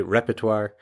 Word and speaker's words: repertoire: So this word repertoire comes from French and is pronounced kind of in a French way, repertoire.